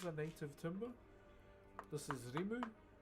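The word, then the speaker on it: rimu: This is reu. R I M U is how you spell it.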